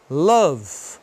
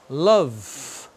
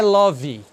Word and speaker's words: love: Letra E em inglês, você não pronuncia quando ela está no final, a não ser que seja só uma sílaba, aí não tem jeito, você tem que pronunciar.